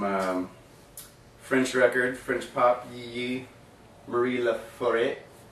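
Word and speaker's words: Marie Laforêt: French record French pop Marie LA foreign that's exactly how you pronounce it and uh this is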